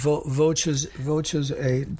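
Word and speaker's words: Voces8: Voces 8? Yes, that's how it's pronounced. Voces 8.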